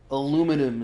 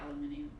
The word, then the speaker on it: aluminum: our language is different aluminum is the correct way to say you have like american english at google that's funny aluminum aluminum this is weird yeah because it has a the british the british say aluminium yeah yeah it's a